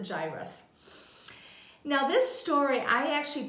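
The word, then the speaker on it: Jairus: five in the Bible now some say Jarius I pronounce it gyrus now this story I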